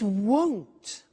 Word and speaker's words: won't: it'll be winter it won't be sunny is the negative won't remember the difference between will not won't and want won't want so be careful with that pronunciation so it'll be sunny